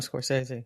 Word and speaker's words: Scorsese: a friend that's that's friends with John Coror Scorsese. Is that how you say it?" The the producer out there in California and he said, "I need to do Martin Scorsese.